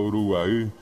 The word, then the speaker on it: Uruguay: llaman maracaná maracaná y verdad o uno dice Uruguay correctamente pronunciado Uruguay que yo le contaba ayer que la terminación